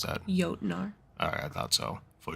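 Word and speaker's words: Jötnar: The mountain became a shelter for the outcast and the artist for, how do you pronounce that? Jotnar.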